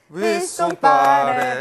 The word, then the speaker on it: 박지성: 주에도 계속됩니다 떼떼떼떼 위송빠레 아 스튜디오에서 떼창이 울려 퍼졌는데요이 때송이 박지성의 네덜란드식 발음인데 위송 빠르크 에인트호벤의 홈구장에서